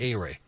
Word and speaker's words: Ehire: I can't pronounce it. A-Ray. Just think A-Ray. A-Ray.